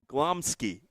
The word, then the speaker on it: Glomski: of clom Kowski what how do you say it it's glomski oh you're extra Philip